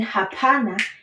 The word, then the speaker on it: hapana: And then hapana is very simple. It means no. Hapana. So that one is very easy to pronounce. You just say ha-pa-na. Hapana.